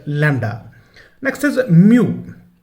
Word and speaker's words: lambda: Okay, the word is lambda, it's not lambada or something else, the word is lambda.